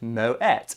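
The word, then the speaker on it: Moët: to the page for Moet, and it's saying, frequently asked questions, how do you pronounce Moet? Moet is pronounced Moet, though it's commonly mispronounced as Moe, because people believe it comes from France.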